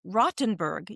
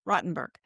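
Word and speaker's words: Rothenburg: It's pronounced Rottenberg. You don't pronounce the th Rottenberg.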